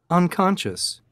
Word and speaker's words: unconscious: word conversation and the last one for unconscious unconscious unconscious is the sc over the c-o-n over the c-o-n unconscious yeah it's the second syllable so most times it's